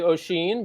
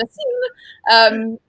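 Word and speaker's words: Oisín: Thanks for correcting my awful Irish mispronunciation. Gur. Whatever. I actually was impressed that I could say Oisin, because a couple of members on our team were like, "Who is Oisin Murphy?"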